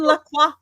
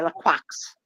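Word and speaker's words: Lacroix: say whenever whenever Christian laqua is an option I have to say it because some people don't know when they say la quacks and it's not quacks the ex is silent qu we have a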